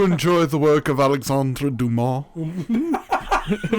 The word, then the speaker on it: Dumas: french his name is duma yeah it will spell dumbass yeah but i don't know is dumas french name absolutely it's not pronounced the way it's spelled a lot of things